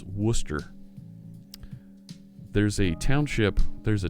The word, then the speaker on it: Worcester: the Simeon says have a crack at wor CES ter now in Massachusetts that town is pronounce Worcester there's a township there's a town around here where I live where it's pronounced worse Esther ah whar sister sire sauce yeah Worcester that's